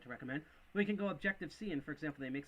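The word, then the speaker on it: Objective-See: And Objective C, kind of styled after Objective with a C, but this is spelled S-E-E.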